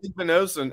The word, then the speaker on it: Igbinosun: Is it Igbinosun is how we say his name? Right? Igbinosun. And he even has OSU in his last name.